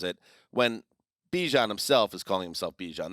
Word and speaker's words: Bijan: pronounce this the s-i how you pronounce my name is Bajan like that's how you say my name he said I actually told Fox 5 in Atlanta but I say Bijan hmm so we're not